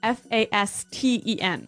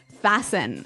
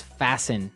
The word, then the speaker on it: fasten: interesting yes it's spelled f a s t n right so it would be Fast N no no right fasten fasten the T kind of becomes silent so it's fasten yep okay let's look